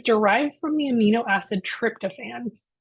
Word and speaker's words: tryptophan: from the amino acid tryptophan some people pronounce that tryptophane um low levels have